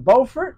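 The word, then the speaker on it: Beaufort: Carolina bfort North Carolina not to be confused with bufort South Carolina right right spelled the same different locations totally different when you're in North Carolina you need to say bordt BT bordt North Carolina look at the beautiful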